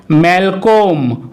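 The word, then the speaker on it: Malcolm: Rule 8, কোনো ওয়ার্ডে এল লেটারটি যদি ও এবং এম এর মাঝখানে থাকে অথবা কোনো ওয়ার্ডে ও এল এম একসাথে থাকলে তখন কিন্তু ওই এল লেটারটির উচ্চারণ সাইলেন্ট হয়।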